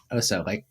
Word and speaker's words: Oso: Is that how you pronounce it? Oso, is that that's bear Exactly, yeah.